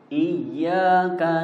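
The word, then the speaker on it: إِيَّاكَ: Yang satu iyyaka, di situ tasjid bukan mad.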